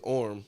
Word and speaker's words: Orm: Um or his that played Jason Mamoa's brother in the is it Orrison or Orphans? No, his name is Orm. Orm. Thank you. Or like Orm.